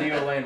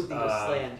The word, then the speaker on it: Neosland: So for those of us that don't know what Neoland is, what is Neoland? Neosland is... Oh, Neosland. You're not saying it right.